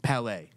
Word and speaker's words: Palet: Palais. Perfect. I said it right. Yeah, okay. You did it good. I always confuse that T and that E all the time.